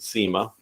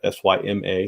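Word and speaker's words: Syma: it and that's the I pronounce that SEMA people say it differently but sym a SEMA it's the x100 and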